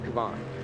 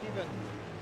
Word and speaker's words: Kevin: And do you go by Kevin or Kavan? Kevin, just Okay.